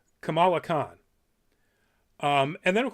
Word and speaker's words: Kamala: clear in here where she corrects one of her fellow classmates that it is kamala it is kamala khan so it's going to